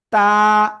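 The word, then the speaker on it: تاء: জিহ্বার আগা উপরে দুই দাঁতের গোড়ায় লাগাবেন, লাগিয়ে উচ্চারণ করবেন। তা, এক আলিফ টেনে পড়তে হবে, তা।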